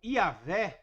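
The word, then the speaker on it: Javé: é Y hw H que se convencionou eh eh pronunciar como yahvé era o senhor agora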